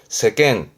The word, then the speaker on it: 世間: 세상을 의미하는 세간의 발음은 세겐. 간짤 때 봤습니다. 발음을 조심하시고. 세겐.